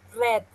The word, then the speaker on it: read: but remember in pronunciation you need to say red like the color okay I agree all